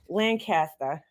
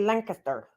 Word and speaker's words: Lancaster: go to Pennsylvania they say Lancaster Lancaster I don't say it weird I can't even say it how they say it that's as close as I can get we call it Lancaster right they call it Lancaster Lancaster but we say we say Lancaster Spokane Spokane yeah see